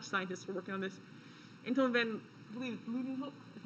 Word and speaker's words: Anton van Leeuwenhoek: bunch of Dutch scientists were working on this, Anton van Leeuwenhoek, is how you say it.